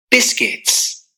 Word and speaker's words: biscuits: So in this case, this letter, the U, is silence. Biscuits.